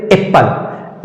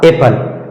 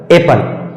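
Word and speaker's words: apple: प एल ई एपल हम लोग पहले पढ़ते थे एप्पल लेकिन इसका सही उच्चारण हो जाएगा एपल एपल उसी तरह से शनि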